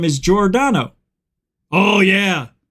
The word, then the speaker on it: Giordano: But my last name is Giordano. Oh, yeah. A lot of people can't pronounce Giordano because it's a G-I-O.